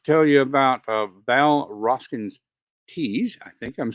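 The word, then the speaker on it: Tews: Also want to tell you about Val Roskkins Tease. I think I'm saying her name right. The last name is spelled T E WS but pronounced like T's.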